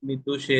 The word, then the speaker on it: മിദുഷേ: ശക്തിത്രയ സമേതായ മിദുഷേ, മിദുഷേ എന്നാണുള്ളത്, മിഡു എന്നല്ല മിദുഷേ എന്നുള്ളതാണ് കൊടുത്തിട്ടുള്ളത്.